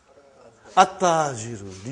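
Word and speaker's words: التاجر: At-Tajiru. You did not pronounce Al. You did not pronounce Lam. Okay, you did not pronounce. You skipped it.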